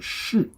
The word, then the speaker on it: 似: Now this one has a second pronunciation called 是. Now when you say 是, it's in a particular phrase.